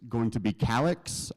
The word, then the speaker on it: Calix: Next up, it's going to be Calix. I learned that it's pronounced Calix recently instead of Calix, but I think they know who you're talking about.